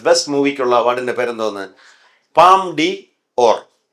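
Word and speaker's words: Palme d'Or: പാം ഡി ഓർ. അതിനെങ്ങനെ വായിക്കും? പാംദ്യോർ.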